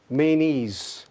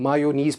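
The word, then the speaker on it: mayonnaise: Next word हमारे पास है मेनीज़, जिसको हम मायोनीज़ पढ़ते हैं, मीम अलिफ मा ये वाओ। वो चूँकि उर्दू में उस तरह से होता है तो हम उस तरह से प्रोनाउंस करते हैं।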